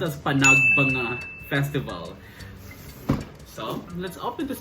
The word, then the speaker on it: Panagbenga: It is, they said it is actually pronounced as PANAGBENGA Festival.